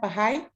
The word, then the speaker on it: Baha'i: Baha'i? Baha'i. Baha'i. I was saying it phonetically.